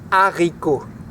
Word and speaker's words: haricots: In French, they're called haricots. Haricot. Haricots, well done. Haricot. Can you repeat at home? Haricot. It's just 3 syllables, it's pretty easy.